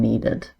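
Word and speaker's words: kneaded: Note that the K is silent in needed.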